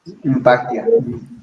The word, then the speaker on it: Impactia: Impactia. Se escribe INN Pactia.